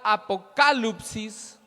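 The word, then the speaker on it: ἀποκάλυψις: Apocalipsis viene de la palabra griega apokalupsis, con tilde o acento en la segunda A, que significa revelación.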